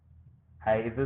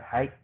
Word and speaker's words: high: bawah ada high juga ha itu tulisannya h i GH Gitu Ee pembacanya bukan ha ya bacanya nya Hai Nah itu kalau low